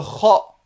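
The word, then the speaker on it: خ: Le kha, d'accord, qui existe dans la langue espagnole, le j espagnol, qui se prononce comme ceci, le kh.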